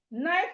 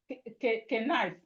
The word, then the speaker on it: knife: Knife is starting with K, but of course the K is silent. So we say knife. We don't say K knife. No, it's not K knife, it is knife.